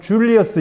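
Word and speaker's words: Julius Caesar: 강력한 권력을 잡게 돼요 율리우스 가이사르 하면 여러분들이 봤을지 모르는데 이게 영어식 발음은 줄리어스 시저에이 사람이 이제 로마 역사서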